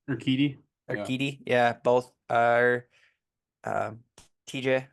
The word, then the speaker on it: Urquidy: How do you pronounce his name? Urquidy.